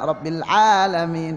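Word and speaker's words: رب العالمين: Hati-hati masih ada yang cepat lamnya ya, Rabbil Alamin itu ya. Rabbil Alamin, harus Rabbil Alamin. Nah, itu namanya sifat tawassut atau bainiyah.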